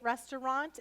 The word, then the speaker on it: restaurant: So this could also be an ah here, a broad A, restaurant.